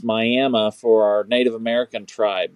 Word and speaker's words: Miami: Yes, it's spelled Miami like you would see Miami, Florida, but it's pronounced Miami for our Native American tribe that's here, the Miami tribe.